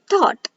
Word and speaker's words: thought: silent words so here when o u g h d comes together u g h are silent for example thought so while reading this